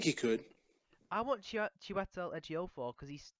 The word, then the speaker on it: Ejiofor: It's not that hard. Ejiofor. Once you get the J, it's easy.